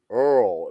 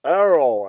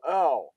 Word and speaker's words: Errol: See, man, Snug still calls you Earl. It's Errol. Everybody watches this replay. The president is named Errol, like Errol Flynn.